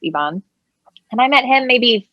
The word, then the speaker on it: Ivan: actor is ivan hasso spelled like ivan but it's pronounced evon and i met him